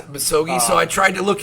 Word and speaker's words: Misogi: And I don't know if I'm going to say it correctly, but the Misagi concept. Misogi, yeah. Misogi.